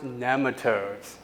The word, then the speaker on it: nematodes: She said it's pronounced nematodes.